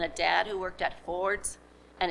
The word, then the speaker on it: Ford's: dad who worked at ford's and if you're from detroit that's the correct way to pronounce ford you worked at ford's